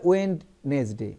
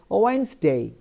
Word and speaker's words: Wednesday: Viewers একটু আপনাদের interfere করি, অনেকেই ভুল উচ্চারণ করে, বলে ওয়েডনেসডে, একদম এটা একদম পুরো বলে, এখানে ডিটা সাইলেন্ট থাকবে, এই জন্য উচ্চারণটা হবে ওয়েডনেসডে, ডি উচ্চারণ করেন না, ওয়েডনেসডে।